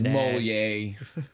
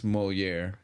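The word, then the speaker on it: Molière: And and he mispronounces it. Oh yeah. Moair really pumps. No, he says Mo. It's Moier. You said it the right way.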